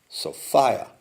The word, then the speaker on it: Sophia: thing again you say although it's pronounced so fire and it rhymes with desire alright Gert cell so